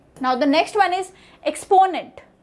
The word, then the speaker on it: exponent: So there are three parts. Number one, the middle part, which is PO, is the primary syllable here.